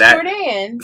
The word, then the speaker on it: Jourdan: pronounce my name. I like that. It's Jourdan. See, and I've been calling her Jordan this And entire everybody time.